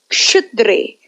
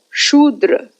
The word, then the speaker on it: Kshudre: So here it is pronounced as Kshudre, not Shudra.